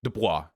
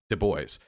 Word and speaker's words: Du Bois: it's pronounced different ways i think it's du bois because he rejected the french origins of his name so rather than dubois it was du bois um that's what i'd heard that he he rejected